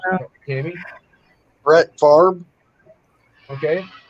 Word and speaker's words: Favre: If you look when he was drafted, he was actually drafted Brett Favre. And that's the way it's pronounced, Brett Favre.